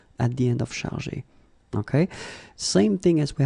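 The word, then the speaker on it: chargés: In both cases, you don't pronounce and you don't pronounce s, so it will go like chargé.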